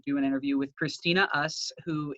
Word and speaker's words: Uss: So today we decided to do an interview with Christina Uss, who, it's pronounced Us, right? USS Yep, Us? you got it right.